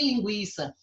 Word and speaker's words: linguiça: tem mais acento aqui linguiça ele é pronunciar a letra u é pronunciada mas ela é fraca linguiça tranquilo mais linguiça